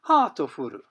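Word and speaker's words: ハートフル: And the Japanese pronunciation of heartful in katakana English is hatofuru.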